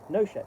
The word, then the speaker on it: Nochet: yet, not yet, or Nochet. In all cases, a short O and a hard CH with equal emphasis on each one.